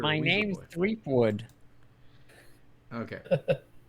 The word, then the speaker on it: Threepwood: Threepwood. Okay. It's spelled Weasel Boy, but it's pronounced Threepwood.